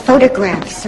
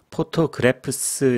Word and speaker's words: photographs: Many of our children, they send us photographs around this time of year. To keep in touch. PH 발음은 F 발음입니다. Photographs. 여기도 BH죠. FF가 두 번 들어갑니다. Photographs. 포토그래프스 이러면 안 됩니다.